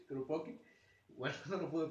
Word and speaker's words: Kropotkin: Kropotkin, perdón, ¿cómo se pronuncia? Kropotkin.